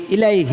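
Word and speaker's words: إليه: হয় তাহলে পড়বেন আস্তাগফিরুল্লাহ ইলাইহ লেখা আছে আপনি বলবেন ইলাই শেষে হাটা উচ্চারণ হবে জজম হয়ে যাবে ইলা আসতাফুল্লাহাইলাহ কতবার পড়বেন?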